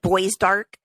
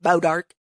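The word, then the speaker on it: Bois D'Arc: weird day pares Missouri it's probably like bow dark which is spelled like b-o-i-s-d-a-r-c but it's it looks like boys dark but it's bow dark anyway I don't know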